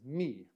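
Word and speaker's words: μι: so it's a but it is the m sound and it's me uh makes the um sound me the word we're going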